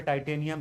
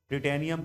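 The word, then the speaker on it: titanium: इसमें कहता है कि रिफाइन करने के लिए करते क्या हैं, देखो यहाँ पे टाइटेनियम है, कुछ लोग टिटेनियम कहते हैं, जैसे जो प्रोनाउंसिएशन करना हो।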